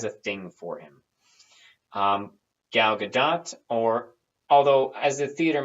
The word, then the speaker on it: Gadot: Gal Gadot, or although as a theater major, I want to call her Gal Gadot so much because it's spelled like Gadot, damn it. But if she calls herself Gal Gadot, I guess it's Gal Gadot.